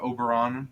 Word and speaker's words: Auberron: know more about auon uh Oberon is the correct uh pronunciation of his name I'm sorry I keep